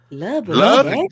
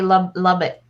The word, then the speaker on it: Lubbock: Lubbock, Texas? Like Shanice was a little behind, but right. I didn't know how to say Lubbock. Lubbock, Texas.